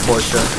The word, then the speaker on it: Porsche: Porsche, right? That's how you pronounce it. It's supposed to be Portia.